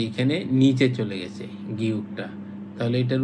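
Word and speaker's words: 기역: এই যে গিয়কটা যদি প্রথমে থাকে, একদম প্রথমে থাকে, তাহলে উচ্চারণ হয় খ। তাহলে উচ্চারণ হয় খ। নর্মালি এটা হচ্ছে গ।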